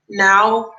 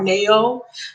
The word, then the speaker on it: Nao: her name her name her artist name is anna like nancy a like apple oh now i pronounce it now or neo hi ronda and it's